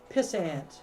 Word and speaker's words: pissant: You type in exclamation point pissant. Exclamation point pissant. One S How do or you two? spell that? 2 S's, all one word. Croissant. Pissant. It's kind of like a croissant.